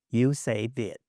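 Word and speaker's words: USAViet: Uh we have USA plus Viet. But then we capitalize SAV so it will be read as you say Viet.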